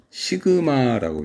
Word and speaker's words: 시그마: 자, 그래서 여기 보이는 요 이걸 갖다가 이것도 그리스 문자인데 그리스 알파벳 중에 하나인데 시그마라고 읽어요. 시그마.